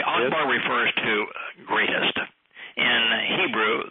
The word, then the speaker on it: Akbar: Therefore, the pronunciation of Akbar is not with a K, but with a CH sound.